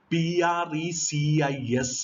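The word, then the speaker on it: précis: Precis is pronounced precis writing.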